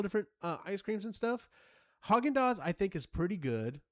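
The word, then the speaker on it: Häagen-Dazs: So you all had any of this horse's ass ice cream? And it was Haagen-Dazs. It was like, how did you mispronounce it that bad?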